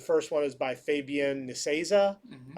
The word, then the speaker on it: Nicieza: The first one is by Fabian Nicieza. Hmm. I believe that's how you pronounce his name. Needs Yates.